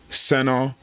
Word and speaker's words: Senne: I had to go learn how to pronounce his name. His name is Senna Lmans.